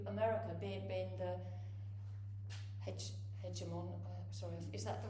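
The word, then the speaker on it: hegemon: So at the end so 1945 um we we had um we moved to America being being the hedge hedgeimon sorry is that the right way to pronounce it?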